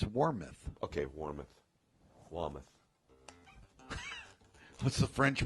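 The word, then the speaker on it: Warmoth: was kind of like You say Wameth, it's Warmouth.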